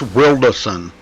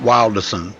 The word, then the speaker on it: Wierson: M by the way it's wierson oh yeah yeah not wilderson it's Wilder wilderson just like it you know it's pronounced like it's SP wilda but yeah I've known